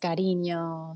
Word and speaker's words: Karinyo: pronouns and my artist name and Persona is Carino spelled with a k k r i n i